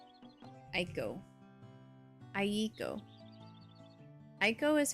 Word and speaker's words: Eiko: Eiko? Eiko. Eiko. Where's Chan with the A-E-I-O-Yo-O-E-O comment? Don't forget the clap. That's super important. Cham, How do I pronounce Aiko? Aiko. Aiko is how I always hear it pronounced.